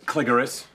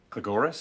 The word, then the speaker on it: Cligoris: Pardon me, Professor Cligoris. Cligoris? Either pronunciation is fine.